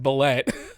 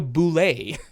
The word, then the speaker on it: bulette: pronounced ballet it's pronounced it's not pronounced ballet I I'm just looking to who I was prepping according to the guy who made uh who made it it's called it's called a boulay and I can't I